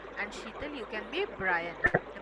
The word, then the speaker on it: Brian: Chaitali, you can be Marissa, and Sheetal, you can be Brian. The pronunciation is Brian.